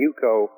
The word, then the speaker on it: Juko: And Yuko is spelled Juko, and I think it's still online, but if you go, they've got a 10-minute video.